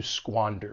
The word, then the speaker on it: squander: And keep in mind that sqa has that squa sound. To squander something.